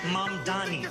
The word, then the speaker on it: Mamdani: And furthermore, the name is Mom Dani. M A M D A N. You should learn how to say it.